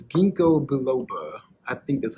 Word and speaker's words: ginkgo biloba: It's ginkgo biloba. I think that's how you pronounce it.